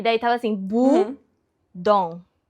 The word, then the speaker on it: Bodom: Eu falei como que pronuncia Lake Bom infinish, né? E daí tava assim, bu dom.